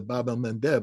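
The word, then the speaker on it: Bab el-Mandeb: Achilles heel of Israel by shutting down the Babel Mev I keep saying that because I finally pronounce it right uh and uh and you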